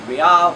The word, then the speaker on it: real: Now the strongest currencies year to date have been the Brazilian real. It's real, but it's pronounced real, which no one would imagine.